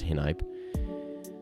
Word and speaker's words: Hinype: That's how it's pronounced, Hinype.